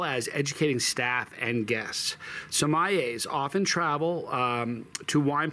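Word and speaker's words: sommelier: who did this for a living samay a Somaya um okay Somaya are wine EXP experts uh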